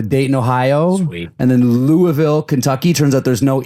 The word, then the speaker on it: Louisville: It's not Louisville. It's Louisville. Do you pronounce it Louisville still, though? You can. But it's just not, it's not Louise. There's no E in the middle of it.